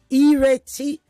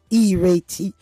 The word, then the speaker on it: Ireti: Ireti, pronounced or spelled with an I, pronounced as an E. Ireti.